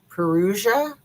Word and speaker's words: Perugia: And so she went to, I always hack the name of the town, Perugia, I think is how you say the name of the town.